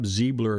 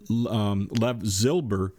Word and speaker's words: Zilber: I kept calling this guy Lev Ziebler in one of my past shows. It looks like Lev Zilber. I don't know why I saw Ziebler.